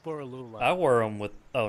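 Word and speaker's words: Borroloola: Borolola. It's Boralula.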